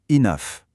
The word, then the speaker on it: enough: Comme tough et rough, il se termine avec ce son euf. On le prononce enough.